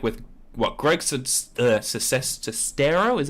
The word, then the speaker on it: Sestero: your experience with this, like with what Greg Sestero, is that how you say his name?